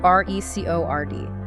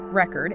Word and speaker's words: record: But if you stress the second syllable record, it's the verb meaning to capture sound or information.